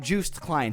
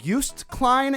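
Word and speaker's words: Joost Klein: pronounce Juiced Klein correctly it's not Juiced Klein he's not a goddamn orange okay we can't just juice him and drink it it's used Klein and I'm pretty sure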